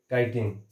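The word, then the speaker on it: chitin: क्या होती है भाई, काइटिन, किटिन बोल सकते हो, काइटिन बोल सकते हो, अब प्रोनाउंसिएशन पे डिपेंड करता है, ठीक है, तो ये काइटिन की होती है, ठीक है।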